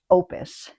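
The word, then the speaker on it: OUPES: This is from a company that they say it's pronounced opus. I know it looks like oops.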